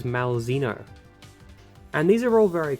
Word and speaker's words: Malzeno: And, well, in Japanese it's Meruzena, but in English this is Malzeno.